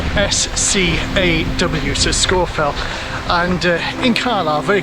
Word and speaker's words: Scafell: got scorphel and scofield pike please note the pronunciation of these uh hills these fells scorefell not scarfell scorefield pike not scarfall pike that's how it